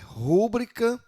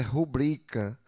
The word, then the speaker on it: rubrica: Eh, isso aqui é bem comum, né? Rúbrica. Rúbrica. Uma palavra aí tá como paroxíto, mas o correto é rubrica. Eh, pro, aliás, aqui tá proparoxítono, né? A palavra rubrica ela é paroxítona.